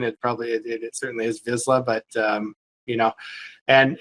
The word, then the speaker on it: Vizsla: So, how did you come up with the name Visa Silver? It's uh so I have a a visa dog or some people pronounce it Vizla.